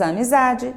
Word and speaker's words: amizade: Então, ó, a última sílaba é o de e a sílaba tônica é o za, é a penúltima.